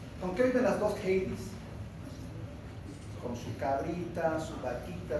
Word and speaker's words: Heidi: Heidi, se pronuncia Heidi.